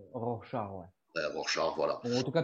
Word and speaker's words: Rorschach: From then on, there was only Rorschach.